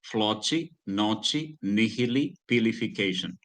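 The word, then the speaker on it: floccinaucinihilipilification: So here, if you pronounce it, it should be floci, noci, nihili, pilification.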